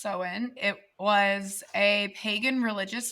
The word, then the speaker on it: Samhain: it's spelled okay so Irish Halloween is called soin spelled s m ha a i n pronounced soen it was a pagan religious Festival that originated